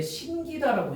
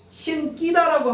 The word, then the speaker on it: 신기다: 그러니까 원래 이게 그러니까 요거는 원래 신기다라고 해야 돼요. 그래서 이것만 외워. 이것만 외우라고. 신끼다라고 하면 안 된다고. 신끼다라고 하는 거는 잘못된 발음이래.